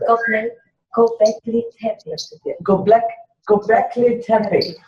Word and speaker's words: Göbekli Tepe: Göbekli Tepe.